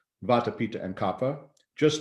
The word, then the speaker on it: kapha: copper you know not kopfa because we see pha as pha but actually in sanskrit it's pa kappa aspirated anyway to get back